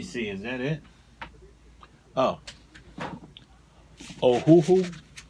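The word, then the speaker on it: Ohuhu: Ohhoohoo. Ohhoohoo. I guess that's how you pronounce it. O H U H U.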